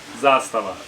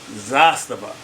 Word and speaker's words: Zastava: you guys to know the correct way to pronounce it. So now you know. Zastava. Zastava.